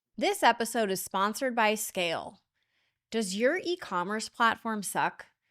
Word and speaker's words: SCAYLE: You know your platform stinks, so visit Scale today. That's SCAYLE. Yes, the Y is silent because you never have to ask why Scale isn't performing.